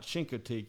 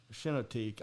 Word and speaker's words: Chincoteague: And, there's the island, the Chincoteague Island, and I know it's not Chincoteague. You don't say the hard H, you say the soft H.